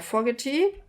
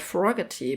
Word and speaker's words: Fogerty: Fogerty. The longest time I said his name wrong. I said Fogerty, but it's Fogerty.